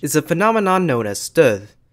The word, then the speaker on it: stød: a phenomenon known as stød. In syllables with stød, the first part is articulated with high pitch, and the second part is pronounced with a lower pitch and has an added creaky voice.